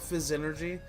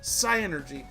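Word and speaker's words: Psynergy: Why do you call it fizz energy? It's psi energy, not fizz energy.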